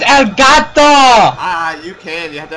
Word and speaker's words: Elgato: And you're not even pronouncing it right, it's Elgato!